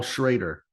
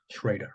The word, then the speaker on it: Schrader: looked it up it's it's paul schrader schrader that's how i would pronounce it c s-c-h-r-a-d-e-r but um